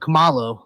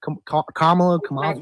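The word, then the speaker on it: Kamala: How do you think um uh Kamal uh Camalo what? I mean, what what's the difference though? Kamla name I'm I'm per I'm correcting your pronunciation.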